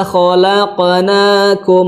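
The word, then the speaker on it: خَلَقْنَاكُمْ: Kho, la-nya tipis, la bukan lo. Kholo, tapi khalaqnakum azwaja, ya.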